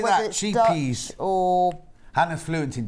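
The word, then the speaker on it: Scheepjes: Sheepies.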